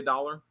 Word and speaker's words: doll: Who wants me to say dollar? The Rink Boss. Dollar. Now say doll. Doll. Doll. Not dole. Dole is D-O-L-E.